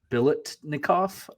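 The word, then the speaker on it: Biletnikoff: win uh the Fred I'm gonna try to pronounce it correctly the Fred Billet nikoff award is that correct yep yep yep sure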